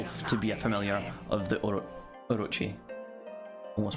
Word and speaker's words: Orochi: I used to pronounce Orochi very wrong, apparently, and it's just engraved whenever I see it. I'm going, Orokai. No, Orochi. Excuse me.